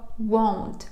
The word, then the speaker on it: won't: Зверніть увагу, будь ласка, на вимову. В нас є дієслово want, хотіти. Є дієслово won't - це will not.